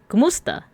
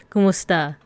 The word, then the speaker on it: kumusta: Is kumusta. Kumusta. There we go. The stress is on kumusta. And it comes from como esta.